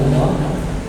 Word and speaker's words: الله: Lafzul jalalah Allah Al-Kisai dan Farraq mengatakan asalnya adalah ilah. Mereka membuang hamzah dan diucapkan dengan lam dan lam yang lain, maka saya pilih keduanya itu lam yang satu musyaddadah dan mufakhamah.